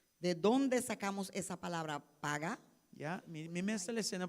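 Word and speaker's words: פגע: Mi La não sabe palabra quando pronuncia paga, em hebreu, P-A-G-A. pero esta palavra hebreu para intercessão, qual está paga. Dia diferente palavra para intercessão. Es Paga. la palabra para intercesión en hebreo. Se dice paga.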